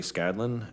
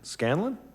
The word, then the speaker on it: Scanlan: do not a problem well how do you say your last name how do you say it scanlan did i get it yeah yeah i'm there okay